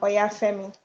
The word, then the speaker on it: Oyafemi: My name is Oya Femi and Okay.